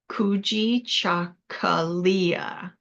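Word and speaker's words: Kujichagulia: has lots of letters so it's kui chakala kui chakala and what it means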